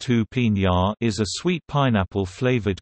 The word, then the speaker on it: Jupiña: Jupiña, pronounced Jupiña, is a sweet pineapple flavored carbonated beverage.